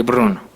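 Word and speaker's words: Brno: Fue en un lugar parecido, en el monasterio de la abadía de San Tomás de Bruno, porque así se pronuncia, de puro ladrillo, pastos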